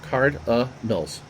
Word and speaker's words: Cardinals: One of the 3 hits for the Cardinals. And if you were to pronounce it properly, the I is a separate syllable. Cardinals.